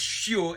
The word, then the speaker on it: chiot: All right, so like puppy, for example, is chiot, and you spelled it with a silent T because when it's a girl puppy, it's shut, right?